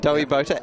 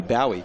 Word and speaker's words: Dowie Bota: Dowie Bota, as in David Bowie? No, that would be Bowie. Dowie. No. Okay, so Dowie.